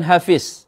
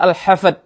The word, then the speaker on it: Al-Hafidh: Lafaz yang kedua juga bukan hafiz atau surah hafidh dengan dha, tetapi dengan dal, yaitu surah Al-Hafidh, ha, fa, dal, bukan surah Al-Hafidh, seperti yang dikatakan.